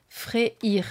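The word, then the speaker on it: Freyr: faut dire par exemple fréir faut prononcer le y en fait voilà bon et ben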